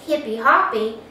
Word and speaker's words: hip-hop: The hip-hop, Brazilians pronounce this hippy-hoppy, it is similar to